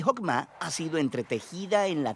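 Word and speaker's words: חכמה: En hebreo se pronuncia Hokmah, y usualmente se traduce al español como sabiduría. Es un atributo de Dios que Dios usó para crear al mundo y Jokmah ha sido entretejida en la tela de las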